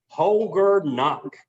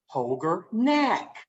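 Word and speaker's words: Holger Knaack: check it out poger knock that's how you pronounce his name holger knock and where is he from germany we think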